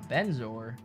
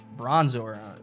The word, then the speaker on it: Bronzor: A Benzor. Bronzor. Okay. Just mispronouncing Pokemon over here.